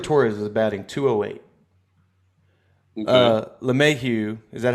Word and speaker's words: LeMahieu: LeMahieu, is that how you pronounce it? Yeah, LeMahieu.